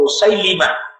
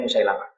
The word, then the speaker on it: Musailimah: orang-orang yang meyakini bahwa Musailimah, orang kita yang bacanya Musailamah, Musailimah Al-Kadzab sebagai nabi.